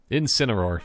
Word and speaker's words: Incineroar: Incineroar.